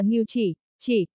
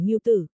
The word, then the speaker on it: Ngưu Chỉ: Hắc, hắc, đừng có sửa bậy tên tôi là Ngưu chỉ, là trong từ, chỉ đầu, ngón tay đi di chứ không phải Ngưu tử.